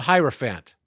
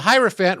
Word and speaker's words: hierophant: musical Keys okay so the hierophant rhymes with another word that's an animal elephant elephant there we go okay